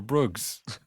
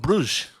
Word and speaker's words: Brugge: Oh yeah, first question: is it Brugge or Bruggs? It's Club Brugge.